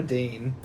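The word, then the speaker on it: Deyne: I'm just like, no, she's not a dean. Ironically, Dean, the reason why I've been pronouncing it Dean the whole time, which is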